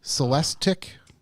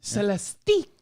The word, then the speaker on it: Celestiq: This Cadillac Celestique.